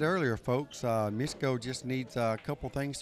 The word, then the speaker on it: Mieszko: Mieszko? Mieszko, that's how you pronounce his name, Mieszko.